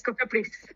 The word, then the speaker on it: Cofepris: Does uh do I Do I pronounce it correctly? Cofepris? Yes, Cofepris.